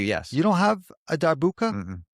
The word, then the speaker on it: darbuka: You don't have a darbuka?